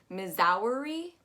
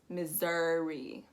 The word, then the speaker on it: Missouri: be missouri um but what you want to make sure is that ss turns into a z and that u o u turns into an uh missouri missouri also make sure that when you're saying missouri that your u is not too pointed it's gonna roll directly into the r as one swift motion missouri missouri missouri up